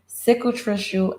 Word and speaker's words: cicatricial: Cicatricial alopecia, cicatricial is how you pronounce it, and it's spelled CICITRICIAL, cicatricial alopecia.